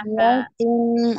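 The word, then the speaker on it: قَرْيَةٍ: Qoriyatin, afwan, taknya kasrotain ya, jelas dibacanya. Qoriyatin illa.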